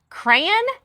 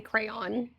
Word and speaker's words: crayon: Is it cran or crayon? It is a crayon.